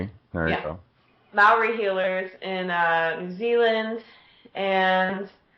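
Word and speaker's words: Māori: And, I mean, of course, I received healing too, And then after that, we did the Maori is how you say it. There you go. Maori healers in New Zealand, and then in between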